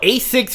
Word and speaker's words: ASICS: These niggas got on Asics, which rhymes with basic. Like, these motherfuckers. Whoa. I wear Asics, bro. Asics.